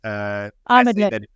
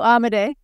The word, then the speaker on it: Amodei: But Dario Amodei's Amodei. Dario Amodei. Amodei. Okay. Well, we knew I wasn't going to get the pronunciation.